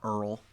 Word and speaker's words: URL: that point to Pages you'll also hear it pronounce. Earl as well and you can usually